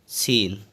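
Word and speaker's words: scene: के बाद सी आया हुआ है उसको सी साइलेंट इसको पढ़ेंगे सीन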